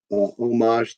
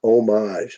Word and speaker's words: homage: And just so you guys know, it's homage. It's not homage. I have that pet peeve. A lot of people say homage, but it's the O. I mean, the H is silent.